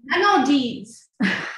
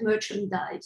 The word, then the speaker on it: Manandise: Now I want to move on to Manandise. Did I pronounce that correctly? No. Nope. Manandise. Manandise. Beautiful. I don't have okay. Yeah. Okay, but that's okay. People call me so oftentimes merchandise. So, okay, so I'm Manandise.